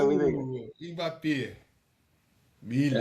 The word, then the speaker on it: Mbappé: Você fala Miller ou Mbappé, eu vou te falar Mbappé. Eu vou falar. Aliás, né, pessoal, não é Mbappé, não, é Mbappé, tá?